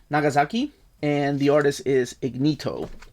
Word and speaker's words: Ignito: This is written by Takashi Nagasaki, and the artist is Ignito. And I believe that's how you pronounce it. It's like Ignite, but with an O.